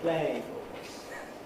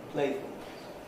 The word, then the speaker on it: playfulness: Play has a certain duration. In playful, the play is shortened. Playfulness is shortened again. We don't say playfulness, but playfulness.